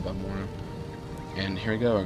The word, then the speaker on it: Balmora: than you could say for Balmora, or Balmora if you're going to pronounce it the way they said it in ESO, but I still pronounce it Balmora.